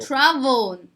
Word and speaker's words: travel: tourist number five travel travel ตัวนี้ออกเสียง V นะคะ travel okay and number